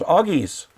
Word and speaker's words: Oggies: We could call it, that would be pronounced OG, we could call ourselves Oggies. That that what we've got going here is the Oggie channel for Oggies, O-G-G-I-E-S.